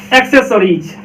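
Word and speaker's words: accessories: यहाँ पे क्या हो गया देखिए बाद वाले सी के बाद क्या है ई है, इसलिए स, और उससे पहले सी है उसका क्या निकलेगा क, तो क स, इसलिए इसका क्या उच्चारण निकलेगा एक्सेसरीज, एक्सेसरीज।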